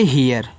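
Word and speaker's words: hear: देखो अब यहां पे इ आर को यहां पे ईयर पढ़ते पढ़ेंगे। ठीक है? यहां पे क्योंकि आर दिया हुआ है साथ में। इसको पढ़ेंगे हियर। हियर। ठीक है? एच इ आर को हियर पढ़ेंगे।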